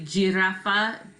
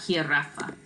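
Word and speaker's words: jirafa: a tricky work because a lot of students want to say gee Arafa I think because of how it sounds in English giraffe but in Spanish from Virginia's an H now so like here Rafa alright here we go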